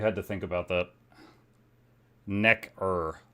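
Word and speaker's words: Nekker: Necker like neck.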